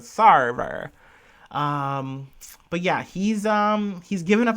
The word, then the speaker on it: Sarver: But this is an update on Robert Sawyer. Or Sarver. Gosh, was I saying his name wrong in the other episode? Robert Sarver. Sorry. Like server, but Sarver.